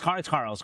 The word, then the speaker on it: Carels: Am I pronouncing it right? Carels. Yeah, it's Carels.